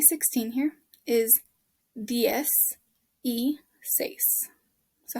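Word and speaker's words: dieciséis: you say ds e this letter i here just says an e sound and then says number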